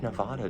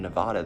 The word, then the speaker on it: Nevada: Like, I know Colorado has like a Spanish name base, and I think Nevada does too, which is why I pronounce it Nevada. But if you ask someone that's from Nevada, they say it's Nevada.